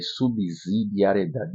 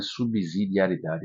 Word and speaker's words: subsidiariedade: Subsidiariedade, eu vejo muita gente falando aí subsidiariedade. Não é subsidiariedade, é subsidiariedade. Lembrar da regra do subsolo, né?